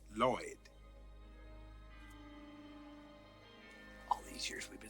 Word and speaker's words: Lloyd: Hail to thee, O Lord. Actually, it's pronounced Lloyd.